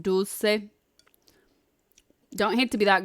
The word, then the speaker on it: dulce: You hate to be that guy, but it's pronounced dulce.